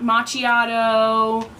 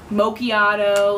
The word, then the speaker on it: macchiato: just can't mock mock Machado macchiato like it's not hard and then mocha like